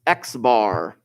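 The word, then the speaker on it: x̄: of greek letters rolling around here this is pronounced x-bar very creative i know but if you're dealing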